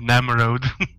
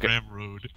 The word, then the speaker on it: Ramro: You say you said Namro. Yeah, you're saying Ramro. So, at the stream they are called Ramro with an R at the start.